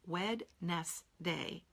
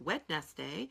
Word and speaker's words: Wednesday: When you go to spell the word Wednesday, how many of you think Wednesday? You know, no, we don't say it that way. That's not how I'm going to meet you next Wednesday.